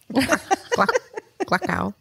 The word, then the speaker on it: Gluckow: Gluckow. People would always get it wrong, and I'd be like, it rhymes with luck, but it's gluck.